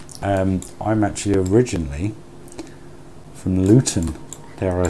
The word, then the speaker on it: Luton: Well, believe it or not, I'm actually originally from Luton, dare I say it. But did you hear that? I pronounced my T's.